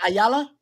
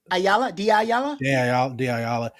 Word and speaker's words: Diallo: Ayala? Diallo.